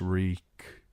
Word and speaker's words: Reek: My name is Reek. It rhymes with weak.